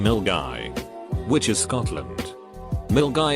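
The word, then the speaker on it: Milngavie: guy which is Scotland mill guy is pronounced mill guy the middle school I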